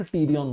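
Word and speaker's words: pterion: सो इट इज a week area, सो बोलते हैं P silent टीरियन बोलते हैं।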